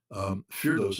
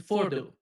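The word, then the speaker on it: Fordow: Yeah, the correct pronunciation is Fordo.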